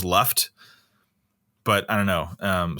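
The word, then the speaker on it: Lufgt: the beginning yeah yeah it's like l-u-g-f-t like look like left i imagine it'd be pronounced left but i don't know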